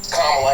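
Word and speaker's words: Kamala: do you pronounce it first you say comma like a comma in a sentence Dan you say la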